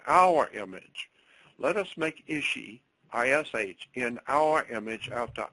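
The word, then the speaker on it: איש: And then later on, after she gives birth to something called Adam, man in Hebrew is ISH. It's pronounced Ishi.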